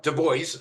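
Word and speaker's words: Du Bois: William Edward Burkhard Duboce as I said rhymes with voice was born in 1868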